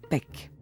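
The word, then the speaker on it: pek: glyphe qui signifie chien mes chiens en maya se prononcent peck et l'art en conclut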